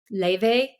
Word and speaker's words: Laufey: Leve. It's spelled Laufey, but she's Icelandic, so the F is a V.